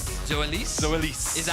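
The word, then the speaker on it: Zoelys: erls if I if I may tell me zois zois zois is that how it's pronounced that's how law told me to pronounce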